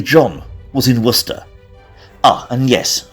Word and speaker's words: Worcester: say John was in Worcester ah and yes for the American viewers wora and for the sord Worcester sh like Lord of